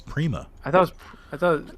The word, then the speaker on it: Prima: is it Prima it's Prima I thought I thought like premiere it's not Premiere no it's it's said pronounced like Premiere like Primo it's per it's pretty like or like a prima donna it's Prego it's not